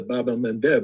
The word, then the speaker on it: Bab el-Mandeb: And the Houthi have shown the Achilles heel of Israel by shutting down the Bab el-Mandeb. I keep saying that because I finally pronounce it right.